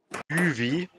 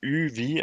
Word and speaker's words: Üwi: Also Übelbacher Markus wird ausgesprochen Üwi. Oha. Also Üwi, also wirklich ein W.